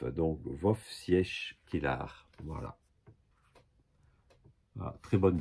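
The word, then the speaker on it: Wojciech: Bon, faut prononcer Wovciech Kilar. En fait, le JC, c'est comme un F.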